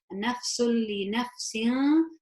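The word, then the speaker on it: نَفْسٌ لِنَفْسٍ: So this is idgham bighayr gunna, idgham without gunna, and I would pronounce it as nafsul li naf. So there's no gunna, it's like it's going straight onto that lam. Nafsul li nafsin.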